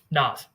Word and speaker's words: Naz: Naz or Nas? How are you pronouncing it? Nas. Perfect.